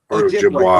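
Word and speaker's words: Ojibwe: Um, OJ BW8, Ojiway. Okay, so I was right. Yeah, I just didn't want to mispronounce it and be like, I'm an idiot.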